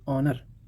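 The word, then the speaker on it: honour: हाँ, यहाँ पर देखिए एच यहाँ पर चुप है, ऑनेस्ट एच को छोड़ दीजिए, ऑनर, आवर, एयर।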